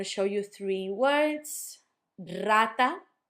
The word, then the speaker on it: rata: Rata. Rata sounds like a rolled R, a strong one, because it's at the start of the letter or of the word.